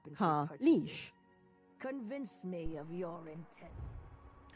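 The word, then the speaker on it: Kaleesh: They are called Kalish, pronounced Kalish.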